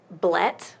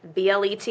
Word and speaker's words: BLET: Okay, so my personal favorite is the Blet, which is how we're pronouncing it, BLET or Blet.